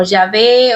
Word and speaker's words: Yahvé: Algunos los pronuncian como Yahvé, otros como Yahweh.